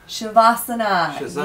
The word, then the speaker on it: Shavasana: Somebody online said their favorite is, and I don't think I got the spelling or the pronunciation right, Shavasana? Shavasana. Yes.